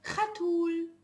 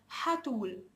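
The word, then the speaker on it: חתול: It can be also pronounced as hatul. Hatul, but you will know that the one that pronounces it het, it has some Arab origins. He comes from some Arab countries, or also an Arab who speaks Hebrew would pronounce it the original one, hatul. But Jews nowadays inside Israel, modern Hebrew, they would pronounce it as chet.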